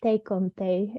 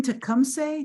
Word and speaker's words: Tecumseh: And I believe his name is Tecumseh, is how you say it in Shawnee. Oh, But do you mean Tecumseh?